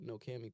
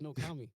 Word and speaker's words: No Kami: back and hit up No Cammy personally. No Hmm. can't, And no Kimmy, yeah, No Cammy. no Kimmy. Am I saying it wrong? Oh, it's No Kami.